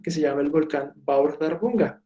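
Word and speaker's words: Bárðarbunga: se llama el volcán va a abordar bunga así se pronuncia esto es como una th de tu paquete tu vientre' como en inglés si va a hurgar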